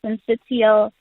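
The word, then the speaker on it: syncytial: the time so respiratory cial virus what is that and am I even pronouncing it correctly you've said it correctly but so it's respiratory sensial virus it is in short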